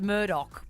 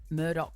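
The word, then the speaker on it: Murdaugh: as the stream Queen our self-proclaimed um the Murdoch prison Deb barkle that's been going on there's a Netflix documentary on it I think it's just called the Murdoch murders something like that I'm two Epsy and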